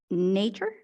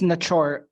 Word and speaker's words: Nachor: Member Naker? It's Nachor.